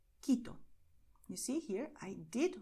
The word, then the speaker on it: Quito: But in these combinations here, QUE, QUI, the letter U is silent. Okay, so you write it, but you do not pronounce it. This is why you're going to say Caracas, Colombia, Cuba, Querétaro, Quito.